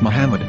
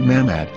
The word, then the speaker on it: מחמד: vowels, it can be read as Muhammad, which is the name of the Muslim prophet, or as Mamad with no A after the H. According to Ben Yehuda's Hebrew English Dictionary, it is correctly pronounced as Muhammad, not Mamad.